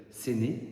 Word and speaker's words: Séné: Nous sommes dans une petite ville qui s'appelle Séné. Donc euh euh qui s'écrit S E N E mais vous pouvez écrire S E N E.